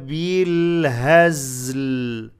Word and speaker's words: بالهزل: وما هو بالهزل. هز هزل. دمق القلق in the زاي not هزل. هز prolong the sound of the زاي.